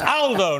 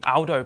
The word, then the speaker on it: Aldo: me up on it Aldo not Alo Aldo is a very British pronunciation of an Italian uh good to see